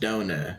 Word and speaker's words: Donner: No, I think it's actually pronounced donor.